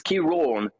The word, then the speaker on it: Ciarán: It has caused a little bit of debate, but it's Ciarán, because of that. There's an accent on the A. If there wasn't an accent there, it would just be Ciarán, yeah. So, but because of that accent, it makes it an orn sound.